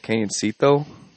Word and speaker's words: Cañoncito: It's a place called Cañoncito.